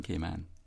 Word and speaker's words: Cayman: in father right ma native came onions will always correctly stress the last syllable man when we say the name K man notice I said correctly